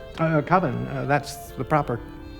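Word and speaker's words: Coven: It's pronounced Colvin, man. What else could it be pronounced? Uh Colvin, that's the proper pronunciation.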